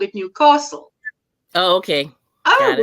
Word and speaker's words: Newcastle: An enemy would Newcastle, where us in Gordyland called it Newcastle. Oh, okay. Oh, Got it. rightio. Oh, my goodness. I overpronounce the new. Yes. As it said locally, you overpronounce the castle section.